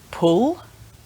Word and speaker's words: pull: In English, we have a short sound and a long oo sound. Sometimes these get confused. So for example, two words with these two sounds in are pull with and pool with oo. So short and a long sound.